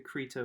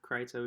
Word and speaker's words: Crito: had you read the the krita or the crito depending upon I've heard it pronounced both ways essentially um the last